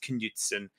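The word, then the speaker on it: Knutsen: to people say his name and it is Knutson um the English the English have a funny way of pronouncing uh Scandinavian names it's why a lot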